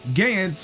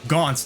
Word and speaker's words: Gantz: __ ] rules bro so Gans or gonze depending on how you wanna pronounce it is a manga that